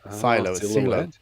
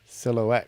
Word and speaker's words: silhouette: it's I think it's a not Silo silhouette because it's of course another mispronunciation I do see that